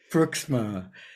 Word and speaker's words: Pruiksma: difficult to like translation is that the right pronunciation yes indeed Pruiksma and i love your bio so i'm just